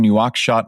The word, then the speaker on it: Nouakchott: You were born in Nouakchott, Mauritania. Oh, good pronunciation.